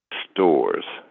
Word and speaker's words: Storz: It is Lance Stores. And Lance is spelled regular, but the Stores is spelled Storz.